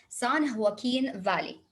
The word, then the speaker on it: San Joaquin: way through the sun because the j when it comes at the beginning we will pronounce it san joaquin valley san joaquin valley while